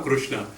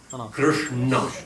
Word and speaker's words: Krishna: Krishna is actually a very hard word to pronounce correctly. There na also is a difficult na. It's a retroflex. It's like ta, na. Krishna. It's there, not Krishna. It's not out here. Krishna. Not Krishna. Krishna.